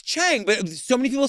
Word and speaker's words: Chang: I know, but it's Chang. But so many people say Chun. It really bothers me. So, we open with Robin Roberts. She's sitting down with Joyce Chang's brother, Roger.